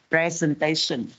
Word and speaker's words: presentation: Ở phần phát âm lưu ý cho cô cái từ presentation thì cái dấu trọng âm nó rơi vào vần số 3. Do vậy là chúng ta không đọc là present. Present đó là động từ nhé. Mình chuyển nó thành danh từ thì mình thay đổi cái dấu trọng âm dẫn tới mình phải đọc là presentation.